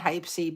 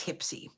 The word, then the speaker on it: Hypsee: I'm working at remembering to call it Hipsy and not Hypsy, because it's spelled Hypsee. And so I automatically in my head called it Hypsy until I met with the gentleman and it was like, oh, it's Hipsy.